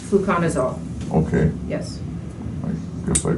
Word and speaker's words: fluconazole: Gave me a prescription to something called fluconase. Fluconazole. Okay. Yes. I guess I kind of butchered that.